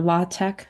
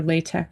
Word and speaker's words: LaTeX: It's pronounced either le or latte. I prefer latte. So that's what I'll be saying. The reason why is this X is not the letter X.